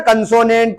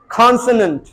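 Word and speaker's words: consonant: तो ब्रिटिशर्स जो बोलते हैं वो बोलते हैं कॉन्सोनेंट, ये जो आखिरी का नंट इसको जल्दी से निकालना है दांतों से, गॉट इट, कॉन्सोनेंट कॉन्सोनेंट कॉन्सोनेंट, vowel, कॉन्सोनेंट, गॉट it guys, से यस यस, we have learn, ठीक है।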